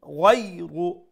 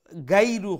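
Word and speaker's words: غير: হইতো নাই ফালাহুম আজরুন গায়রু লেটার গাইন মুলায়ম করে মুসলিম করে উচ্চারণ করবা গাইরু হইবা না এটা হইল কি গয় গয় গলার উপর অংশ থেকে উচ্চারণ হইব বাট একটার মধ্যে একটা মুলায়মতা থাকবো একটা নম্রতা থাকবো নরম করে উচ্চারণ হবো গয়রু গয়রু গ আমরা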